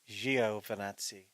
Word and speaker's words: Giovinazzi: So it's Giovinazzi.